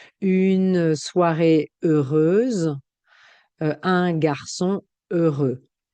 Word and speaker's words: heureux: terminera par Z comme heureux. Heureuse. D'accord. Une soirée heureuse, un garçon heureux. Je ne prononce pas aussi le X.